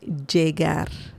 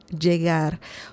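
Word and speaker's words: llegar: English like right or it can sound more like a J the English you know the J sound in English Jar Jar Jagar both both sounds are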